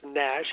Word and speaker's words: NASH: Uh it's pronounced nash n-as.